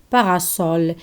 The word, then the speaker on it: parasol: like the word soul parasol here s is between two vowels ah and o and why s is not pronounced z simply because this word contain a prefix contains a prefix para para is a